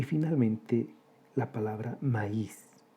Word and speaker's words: maíz: Y finalmente, la palabra maíz. 2 sílabas.